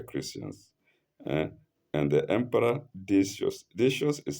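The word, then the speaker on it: Decius: because these were Christians and the emperor dious dious is spelled capital d e c i u s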